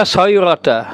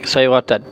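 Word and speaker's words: صغيرة: Maka la kabirata, la sayrata, bacanya sayrata isim la, tidak dibaca dengan sayratan.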